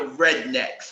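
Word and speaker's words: Readnex: And then we came across this group called the Rednecks, right? But it's spelled Rednecks, R-E-A-D-N-E-X.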